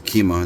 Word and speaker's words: Kema: It's pronounced, yeah, it's Kema, that's how you pronounce it.